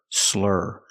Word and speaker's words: slur: because he's drunk pronunciation make that IR sound like Burger slur slurring let's hear some examples